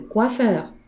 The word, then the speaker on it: coiffeur: And remember here how we pronounce O and E. We pronounce it wa. Le coiffeur.